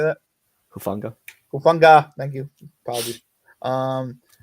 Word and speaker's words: Hufanga: can't say Hua how do you say that hufanga funa thank you apologies um and yeah J